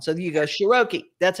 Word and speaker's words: Sheroky: Sheroky. That's right. It's like vowel, consonant, vowel is always a long sound. So you go Sheroky.